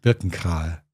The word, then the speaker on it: Birkenkrahe: actually not very much I think I've beginning to pronounce my own name the American way so that's how would you pronounce it in German burken car burken that's it there you go we